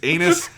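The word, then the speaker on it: Ainus: her name it is anus i it's it's a-i-n-u-s but it is just in japanese it's just anus her name is captain anus what are you laughing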